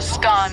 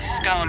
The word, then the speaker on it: scone: Both scone rhyming with gone and scone rhyming with bone are accepted pronunciations, though regional variations exist.